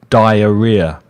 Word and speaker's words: diarrhea: So Dier is the first half of that word and Ria if you remember Chris Ria and so you put